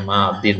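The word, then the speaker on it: ماضٍ: yang pertama namanya Madin ini bacanya Madin ya Kemudian yang kedua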